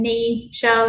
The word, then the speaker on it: Neisha: I used to spell my name Neisha, like your kneecap, because no one knows how to pronounce it.